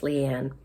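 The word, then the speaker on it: Liane Moriarty: I'm sorry, I think her name is pronounced Leanne.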